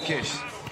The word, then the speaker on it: Kish: Swish and miss rhyme with Kish.